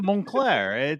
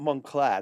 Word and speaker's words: Montclair: Yeah, Montclair. The T is silent. Not Montclair.